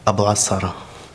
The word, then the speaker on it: Abu Asara: Abu Asara. How do you spell it?